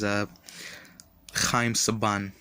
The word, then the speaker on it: Chaim Saban: Turbo movie, were completely dubbed in Hebrew because Chaim Saban, that's how you pronounce the name of the guy who bought